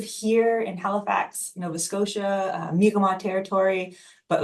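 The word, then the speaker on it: Mi'kmaq: I know that there is uh for the migma u there's a little bit of a well it's not pronounced like that that goes on um there's there's the the the very angophone oh it's mcmack um and that's not right at all.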